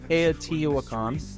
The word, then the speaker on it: Teotihuacan: But that's, how do I pronounce it, Lance? Teotihuacan? Teotihuacan, okay.